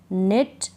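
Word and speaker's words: knit: Need, नी, नाइफ, निट, knock, no. तो इन सारे spelling में हम कहाँ पढ़ रहे हैं? कनीड या कनी या केनाइफ, या इस तरह से नहीं पढ़ रहे हैं।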